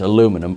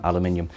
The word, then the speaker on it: aluminum: Now, the novel confirms that Nichols was the one to invent transparent aluminum, which I'm pronouncing that way because that's how it's said in the film, aluminium.